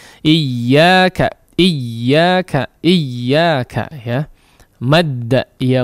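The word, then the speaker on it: إياك: Iyyaka, iyyaka, iyyaka, ya. Madda, ya muddu, maddan, ya. Huruf yang bertasydid kita tidak membaca madda, ya, ya mudu, ya, atau iya, la. Tapi iyyaka, ada hentakan ketika masuk kepada huruf yang bertasydid, ya.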